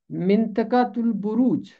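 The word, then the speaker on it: منطقۃ البروج: इसका तलफ़ुज़ है मिंतकातुल बुरूज। मिंतकातुल बुरूज, पहला लफ्ज़ है मिंतका, और बुरूज जब है बुर्ज की।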